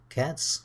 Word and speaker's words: cats: That's easy but they're pronounced in three different ways - 'cats' with a 's', 'dogs' with a 'z' and 'bridges' with an 'is'.